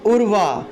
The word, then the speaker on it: উর্বা: তারপরে দেখুন উর্বা, এখানে দেখুন এই বটা হলো অন্তস্থ ব। আমরা জানি অন্তস্থ বয়ের সংস্কৃত উচ্চারণ হলো ওয়া, ওয়া, অন্তস্থ বয়ের সংস্কৃত উচ্চারণ হলো ওয়া।